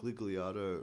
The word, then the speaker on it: Gigliardo: Gigliardo rhymes with Giggly Smarto.